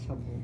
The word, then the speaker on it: subtle: yeah yeah good job subtle subtle yeah subtle is a really interesting word in this word we don't pronounce the b it just pronounces as subtle with a t subtle subtle yeah and